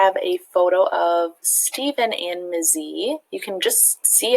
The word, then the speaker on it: Mzee: I've been pronouncing it incorrectly. Mzee it is.